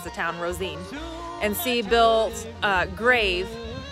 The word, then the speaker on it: Rosine: go down to rosine cemetery that's how you pronounce the town rosine and see bill's uh grave and so here